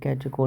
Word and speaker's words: catechol: CATECHOL, कैटेकोल बोलते हैं इसको।